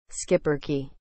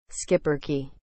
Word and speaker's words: schipperke: what is the meaning of the word skipper key as a noun breed of small stocky black dogs originally used as Watch Dogs on boat in the Netherlands in Belgium skipper key is spelled s c h i p p